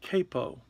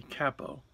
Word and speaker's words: capo: This is one type of capo. Some people say capo, but I think that that's a mispronunciation.